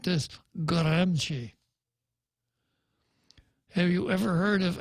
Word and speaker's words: Gramsci: And if you go to Google and ask for the pronunciation, it comes out like this, Gramsci.